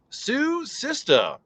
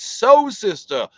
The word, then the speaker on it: So Sista: Sue Sista. Oh, it's So Sista. I've been saying your name wrong the whole time. I'm so sorry. So Sista. As in sewing machine. So Sister, not Sue Sister.